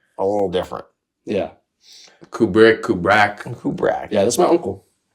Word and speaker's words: Kubrak: It's Kubra. Kubra. Kubra. Kind of like the director, but a little different. Yeah. Kubri. Kubra.